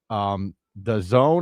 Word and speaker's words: DAZN: And one more thing here, Joe, if you are interested in watching a new sports league, The Zone, I think it's pronounced, DAZN, adds something called 3 Ice.